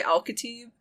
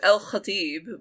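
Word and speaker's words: El-Khatib: So I say so I say Al-Khatib. If we're being realistic, it's El Khatib, but, I'm not going to go around. I said it successfully once. Yeah, I would pronounce it the first way you said it. Very Americanized.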